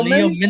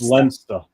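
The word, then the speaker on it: Leominster: Leo Leo Minster.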